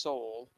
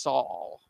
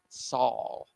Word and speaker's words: sol: tomorrow livestream that that it is not pronounced soul it's pronounced Saul Saul so the opportunity Rover